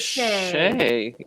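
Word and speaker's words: Shai: But I thought she was good, and she said Shay. I like Shay better, and for the rest of this live discussion, I will be saying Shay.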